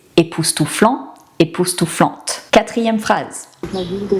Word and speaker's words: époustouflante: Encore une fois, on prononce le T. Époustouflant, époustouflante.